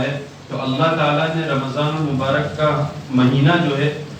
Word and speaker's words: رمضان: دیکھو رمضان جو ہے یہ اس کا جو اصل تلفظ ہے وہ ہے رمضان, میم کے اوپر زبر کے ساتھ. ہم عام طور سے جو بولتے ہیں تو ہم رمضان بولتے ہیں میم کے اوپر جزم کے ساتھ.